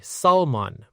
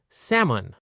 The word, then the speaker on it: salmon: This word has a silent L. A lot of learners say salmon, but native speakers say salmon. Let's practice. Sam un together.